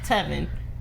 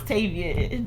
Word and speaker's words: Tavian: Like, if you look at his name, you would think it was Tevin. So, anywho. When it was Tavian.